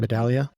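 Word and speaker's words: Medaglia: medalia medalia I always is it silent G or hard G like it's silent medalia I believe unless I'm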